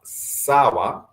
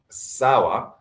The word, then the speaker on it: sawa: We also have sawa, sawa, S-A-W-A, another 2-syllable word, which means okay.